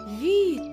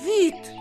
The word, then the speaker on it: вид: А вода по-марийски скажем вид. А в слове вид есть красивый марийский звук «и». Его нужно произносить так. И, и, ви, ви, вид.